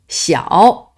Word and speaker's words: 小: we'll cover its' prononciation read it loudly i.e. read it's pinyin x-i-ao-xiao x-i-ao-xiao secondly we'll make words/expresions